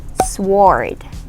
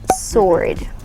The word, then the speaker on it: sword: is not pronounced as sword no it's not sword it's pronounced as sword sword so it's like you remove the w in it sword sword say it